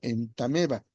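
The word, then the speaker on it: Entamoeba: Si hay una O antes que la O es muda, entonces se dice ameba, entonces se dice entameba.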